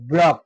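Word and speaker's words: block: লক ভালোভাবে খেয়াল করবে সি এর উচ্চারণ কিন্তু সাইলেন্ট ব্লক ধরো ব্লক বি এল ও সি কে এর আগে সি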